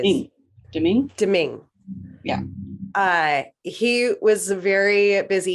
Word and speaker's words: Domingue: Yeah, and especially because their backup goalie, Louis Domingo. How do you say it? Domingue.